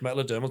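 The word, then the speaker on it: Metadermal: certainly can I'm going to absolutely butcher the pronunciation of this um metal oral Tesla weave perfect metad dermal Tesla weave got it in one so this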